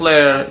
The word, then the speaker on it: flare: Use F people, use F, flare. Jangan gunakan P. Pronunciation is flare. Jika kalian gunakan P, it means different, baby.